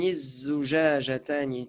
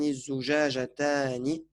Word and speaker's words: الزجاجتان: زجاجتان Voilà, sauf que c'est une lettre shamsiya, donc tu diras هاتان الزجاجتان. Tu ne prononces pas le lam. هاتان الزجاجتان.